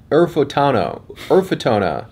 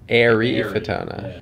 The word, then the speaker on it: Eryfotona: Emphasis on the I. Eryfotona. Like you're airy. Eryfotona.